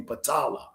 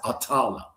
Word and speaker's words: Patala: It's really Patala, okay? Or some people pronounce it Atala.